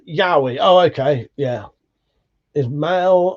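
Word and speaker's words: yaoi: Paul said pronounced Yahi.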